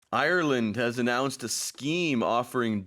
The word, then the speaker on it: Ireland: for Koreans to pronounce, especially because if you read it in Korean, there's no R sound. To me, a lot of times it sounds like people are saying island. Oh, so it's Ireland.